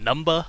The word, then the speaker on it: Numba: Numba, I believe it's pronounced Numba, like a gangsta-ass number.